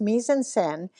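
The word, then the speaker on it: mise-en-scène: it looks like me m in but it's pronounced me anden and it's put right in your face it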